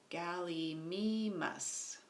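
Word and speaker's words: Gallimimus: it says down here how to pronounce it galley Meis us galley me muss and Oviraptor Protoceratops and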